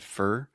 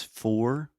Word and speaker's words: for: because it actually said fur but most language teachers will tell you the correct pronunciation is for like or more Etc but a lot of times English speakers just say fur you said that yeah